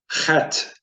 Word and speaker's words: Het: So as we see down here, Het is pronounced like the CH in Bach. It is a guttural, pronounced as if you were clearing your throat. So, Het.